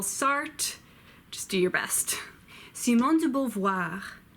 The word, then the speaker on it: Simone de Beauvoir: just do your best Simone de Beauvoir c mon dieu Beauvoir Simone de Beauvoir you may also hear Simone de Beauvoir but that sounds very weird to me Francois said young